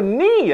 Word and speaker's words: knee: a K in there the K is silent you don't say the k then why put it